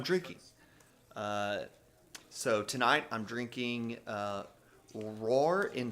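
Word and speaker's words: Rahr: So tonight I'm drinking Roar & Sons Brewing Company, their summertime wheat. It's a Hefeweizen, and the Roar is spelled R-A-H-R.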